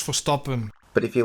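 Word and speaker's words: Verstappen: This time it will be on Max Vstappen. The stupid American is mispronouncing his name. It's Max Forappen.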